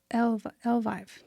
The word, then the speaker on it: Elvive: How do you say this? L'Oreal Evive. Evive. Elvive. Elvive. It's E L V I Ve.